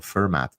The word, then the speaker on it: Fermat: later so for example fermat the mathematician and French you say uh that's how you pronounce his name f-e-r-m-a-t uh was a number